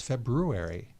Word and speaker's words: February: No, there's an R in there. It's February.